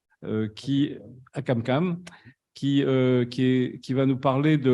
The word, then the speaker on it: Akamkam: Akam, c'est comme ça que ça se prononce, Akamkam, qui va nous parler de la coronarographie sur cœur perfusé ex situ, faisabilité et toxicité sur un modèle porcin.